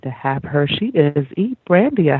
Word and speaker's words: Brandia: So share with the audience a bit about who is Brandia. Did I pronounce that correctly?